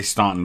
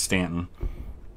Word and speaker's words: Staunton: stock the stanton rifles i always want to say staunton but that's actually pronounced stanton okay fifth georgia let's put